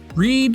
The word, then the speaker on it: read: However, the vowel combination “ea” is pronounced differently in the two words. The correct pronunciations of these two words are /rid/, /brɛd/, respectively. read /rid/ versus bread /brɛd/ Yeah, that’s right!